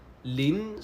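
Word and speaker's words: 林: 'lin' 'lin' and 'ling' What's the difference? Okay, 'lin' is a alveolar nasal 'ling' is a velar nasal Right Yeah, right Grove (shu lin) ×2 And that double-O seven×2, right?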